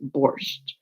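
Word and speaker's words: borscht: we call it B the whole world calls it borch uh which is the Russian pronunciation and in uh so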